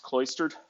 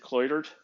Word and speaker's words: cloistered: talking about his childhood he mispronounced cloistered he Prof he pronounced it cled which was weird to me it's got an s in it then he said